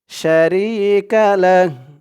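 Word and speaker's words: شريك له: এখানে উচ্চারণটা কিভাবে হবে শারিকালাহ থামার কারণে এই হার উপরে পেশটা সাকিন হয়ে যাবে লাম দিয়ে হা ধরলে যেমন উচ্চারণ হয় এখানে তেমন উচ্চারণ হবে থামার কারণে শারিকালাহ ওয়াহদাহু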